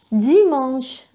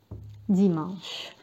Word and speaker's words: dimanche: آخر يوم في الأسبوع عندنا dimanche.